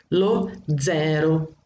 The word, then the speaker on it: lo zero: Lo zero, o zero, a gente fala zero. Italiano eu já falei, a letra zeta, ela tem que ter esse T, zero, lo zero, ok?